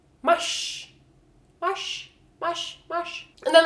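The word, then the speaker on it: mars: a r s here you guys how it's pronounced mush mush mush mush and then last but not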